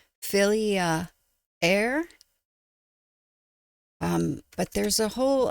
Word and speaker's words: Fylgija: The best phonetic pronunciation I got well I don't know if it was the best one but it's the one I got filia air.